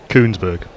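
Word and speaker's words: Kuenssberg: How do you actually pronounce her surname? Because I've never really. I've seen it written so often. Koonsberg.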